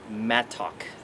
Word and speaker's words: mattock: And this is called a mattock, M-A-T-T-O-C-K. People pronounce it mattock, but it's just a smaller version of this.